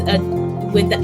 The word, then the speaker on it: Adama: Yes, Adama. You pronounce it without the N.